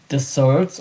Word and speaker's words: dessert: in English if it's deserts or dessert. Um but uh it's deser because double s in French.